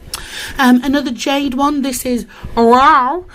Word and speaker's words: UAU: This is wow. However you say it. It's spelled UAU. Wow. Sounds like a cat, but this is spectacular.